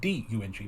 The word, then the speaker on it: Deng: pronounced as Dung, like D-U-N-G, Mao Zedong. The guy who followed him was Deng Xiaoping. Even though the name was spelled D-E-N-G, it was pronounced Dung.